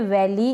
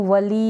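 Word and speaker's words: valley: कि शहद ये है वैली इसको वली या वाली ऐसे नहीं पढ़े वैली क्या पढ़ेंगे वैली वैली का मतलब है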